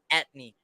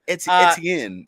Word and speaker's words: Etienne: It's because I say it wrong. God damn, bro, that don't even look like Etney. Does that even look like Etney? Yep. Okay, fuck you. Etienne. It's like French or some shit.